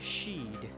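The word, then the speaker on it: Sidhe: Shadowrun Community um Salish Sheed okay oh if it's Sheed then yeah that is more of a Celtic pronunciation um anyway uh because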